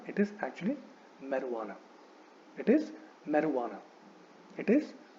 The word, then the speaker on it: marijuana: So there is no j sound. So this word should not be pronounced as marijuana, which is how often people pronounce it. So it is not marijuana, it is actually marijuana.